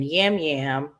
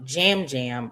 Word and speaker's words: Yam Yam: Then yam yam. Sorry, jam jam. I apologize. I see the Y and I was told that Y is pronounced as J. So it's Jam Jam.